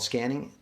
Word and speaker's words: SQANNING: practice this technique again it's called scanning i spell it s-q-a-n-n-i-n-g just to distinguish it